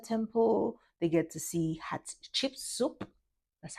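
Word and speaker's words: Hatshepsut: They get to see Hot Chip Soup. That's how it's pronounced. Hat Hot chip soup.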